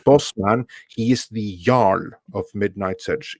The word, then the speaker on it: Jarl: He is the Jarl of Midnight's Edge. Jarl, by the way, is the original Norse version of the noble title Earl. Jarl?